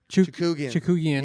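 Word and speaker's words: Chookagian: The next fight was that Caitlin Chukugian.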